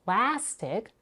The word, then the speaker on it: plastic: a as in father in plastic as in cat and in snake the